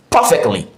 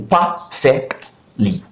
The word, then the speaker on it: perfectly: Perfectly, perfectly stresses the first syllable. Perfectly, perfectly stresses the first syllable, which is par.